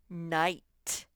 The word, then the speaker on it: night: your story shall story night that gh is silent loudly in a way